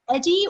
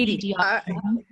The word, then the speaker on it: EDI: Is it Eddie or Edie? Is it pronounced Edie? The Edie. Edie.